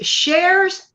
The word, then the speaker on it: Shares: Is Shares Sock Snowman Tutorial. It's spelled with letter S, not like Cher, the very famous Cher person. No, letter S, Shares with letter S, Sock Snowman Tutorial.